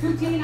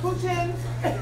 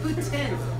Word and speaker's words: poutine: Poutine, I still don't know how to pronounce it. Putin. Poutine. Uh-oh, isn't that bad guy? No, that's a Putin. Is she really getting all this in there? Awesome. Ontario friends call it poutine.